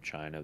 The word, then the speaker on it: Qin: It's like, what are the 7 dynasties of China?